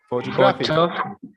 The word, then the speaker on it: photograph: second syllable graphic okay and here we are putting stress on the first syllable photograph photo graph photograph